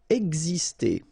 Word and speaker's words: exister: Exister. Okay, so it's really this X here, it's pronounced like X, X, exister.